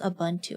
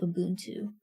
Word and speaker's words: Ubuntu: Bro, I didn't know it's pronounced Abuntu. I've been in my mind they call it Ubuntu, but um apparently it's pronounced Abuntu.